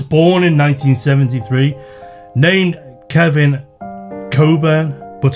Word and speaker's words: Cockburn: My surname as is this tipple spelled as described but pronounced coburn. Whilst this advert finally gave my protest it's not cockburn some credibility.